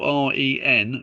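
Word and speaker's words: Wren: It's called Renaissance and that's spelled W R E N Ren as Ren built 50 of the city's churches and St.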